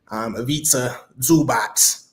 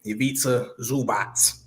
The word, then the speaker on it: Ivica Zubac: Really, Ivica Zubac, Ivica Zubac. Exactly. That's how you say it. Ivica Zubac, right?